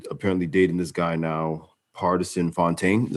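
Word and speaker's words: Pardison Fontaine: ] stallion is apparently dating this guy now partisan fontaine is how you say his name artisan and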